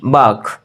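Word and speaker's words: bark: है उसको बोलते हैं बाग आर साइलेंट रहेगा तो इसका जो प्रनंसीएशन होगा वो होगा आप रासायनिक खुरदरी तो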